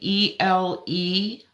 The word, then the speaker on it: Elecampane: Elecampane, Elecampane, campaign. So a couple silent letters in there.